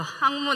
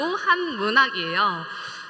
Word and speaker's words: 한문학: 어 제 전공은 한문학이에요. 예 발음 잘해야 될 거 같죠? 학문 아니고 한문학이에요.